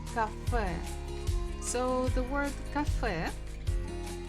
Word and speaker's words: кафе: Сходи в кафе. So the word cafe, the final letter is ye, but we pronounce it very strong, like cafe.